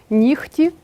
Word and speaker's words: нігті: слова транскрибується Таким чином лехко вохко кіхті і вимовляються так само ніхті дьохтю ці винятки треба запам'ятати наступне правило глухі